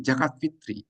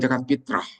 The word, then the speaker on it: zakat fitri: Zakat al fitri, zakat fitri. Jadi sebutannya itu zakat fitri, bukan zakat fitrah.